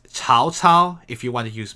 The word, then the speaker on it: Cao Cao: Cao Cao is how you're supposed to pronounce it in, as far as we know.